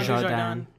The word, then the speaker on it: Dujardin: think that how you pronounce his Jean name? Dujardin.